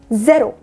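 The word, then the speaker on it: zéro: ज़ेरो, यहाँ बिंदु आएगी क्योंकि यह ज़ का साउंड है, यहाँ पे ज़ का उच्चारण है यहाँ पे।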